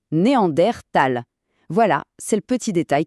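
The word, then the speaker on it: Neandertal: D'ailleurs, une petite anecdote intéressante sur leur nom, ça vient de la vallée de Néander en Allemagne. Et c'est pour ça qu'en toute rigueur, on devrait prononcer Néander Tal.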